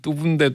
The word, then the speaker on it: 뚜부: 원래 상호명이 뚜부인데 뚜부를 뚜부라고 말하지 어떻게 합니까?